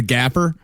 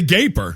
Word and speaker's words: Gaper: And I'll take the gapper. It's the gaper. Are you worried that I'm going to ruin the gapper? It is Gaper. That is gaper.